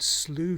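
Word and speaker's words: Slough: video but there's an area called slew treat that's spelled s-l-o-u-g-h sloot reed which is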